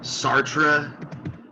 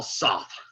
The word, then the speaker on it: Sartre: incorrectly as well but they'll say sartre with a hard r at the end uh but the french i think would prefer my pronunciation even though it's not correct either the the proper pronunciation uh is jean-paul soth okay and i just don't want to say sock all the time and it's hard to say honestly that real sort of under you know silent r